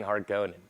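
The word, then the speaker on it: Harkonnen: version which makes it hard for me to pronounce it harkin in since i grew up saying heart going the problem with the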